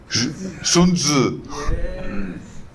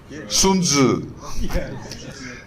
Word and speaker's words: Sun Tzu: How to pronounce it? Sun Tzu. You sure? Sun Tzu. Sounds like Beizi. No, Sun Tzu.